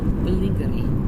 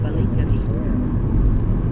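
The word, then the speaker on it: Ballingry: I like that name, Balingari. It's like Bazinga. You say it too posh. Balingari. Balingari. Balingari. That's it. That's it. You got it. Have another beer. Balingari. You don't actually pronounce the G.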